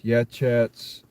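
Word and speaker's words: Yachats: That's called uh this uh it's a weird weird pronunciation for that uh town. That's Y A C H A TS Yhats Oregon.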